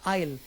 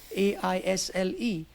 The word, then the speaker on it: aisle: I think you have another example called Aisle, Aisle. Now S is silent, E is silent.